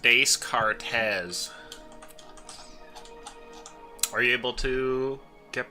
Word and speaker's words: Descartes: It's pronounced Descartes.